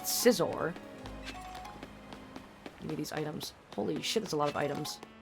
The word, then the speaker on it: Scizor: You say Caesar? I don't think I've ever heard anyone call it that. Caesar. I've heard cizor and just scizor.